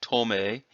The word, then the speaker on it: dome: By the way, that could be tome instead of dome.